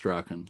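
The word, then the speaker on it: Strachan: I think it's s t r a h or is it ch h an pronounced straen but um but if you search Google for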